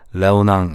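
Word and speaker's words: Léonin: 레오넨과 페로탱이에요. 둘 다 프랑스를 기반으로 하고 있기 때문에 페로탱이라고 읽으시면 되고요. 레오낭 이렇게 읽으시면 됩니다.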